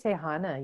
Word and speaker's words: Tehana: Tell me how you pronounce the surname. Tehana? Tehana. Yes. Tehana. Tehana.